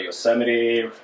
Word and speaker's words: Yosemite: oh yeah my bad my bad ed it's pronounced uh yosemite my bad from our glorious leader that we